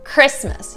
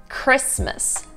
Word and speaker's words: Christmas: So in tip number four, they're omitting the T sound, right? So they're not pronouncing it at all. Let me show you. Christmas. You don't say Christmas, right? It's kind of being omitted. Christmas.